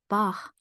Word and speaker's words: Bach: The closest we can get would be gh or kh, like in the German name Bach or Spanish name Juan.